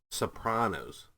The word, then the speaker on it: Sopranos: Sopranos sorry The Sopranos Sopranos Pros not Panos it's like Nevada versus Nevada Sopranos no I I said it wrong again Sopranos with a